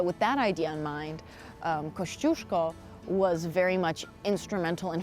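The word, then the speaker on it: Kościuszko: so it makes it chip so you got Kosh Jule go we're in Copley Square and we're heading to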